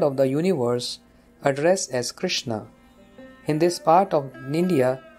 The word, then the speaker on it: Krishna: the universe addressed as krishna in this part of india the name krishna is pronounced krosna because of different languages